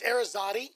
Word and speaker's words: Arazate: It's Arazate. Arazate. But it's been butchered my whole life, so I never get upset.